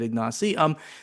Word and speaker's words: Ignacy: I think that he wrote it how it should be pronounced. Okay, Ignacy.